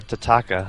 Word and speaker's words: Tataka: showing you when we tataka or tataka no it's tataka so I talked to